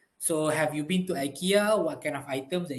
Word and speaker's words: IKEA: for ikea is actually ikea all right e k ya right so that is the actual pronunciation if we are pronouncing it in sweden or if you are using swedish alright one more minute